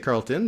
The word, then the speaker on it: Carleton: Parce que je sais qu'il y a un Carleton en Gaspésie, mais c'est-tu prononcé que différemment? En anglais, c'est Carleton, mais en Gaspésie, c'est Carleton. On dit le E, Carleton.